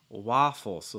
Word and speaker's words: waffles: yeah that's fine um and then waffles notice that ah the same sound like for instance like like father or stop why waffle so it's not waffles it's more waffles that's going to be the more common way you're going to hear in north america for the most part waffles waffles mary mentions that decided